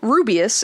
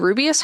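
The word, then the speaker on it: Rubeus: Um, Hagrid's first name, Rubious, is a phonetic variation of rubious. It's spelled differently, but uh, rubious as in a ruby u, meaning a red or ruby color.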